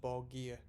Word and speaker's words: Borgir: pronounced by dimu bogier i was very scared to call this band uh dimubagi in the last video purely as i didn't know how it's pronounced but someone a fortunate commenter said it's pronounced ball gear so if i'm wrong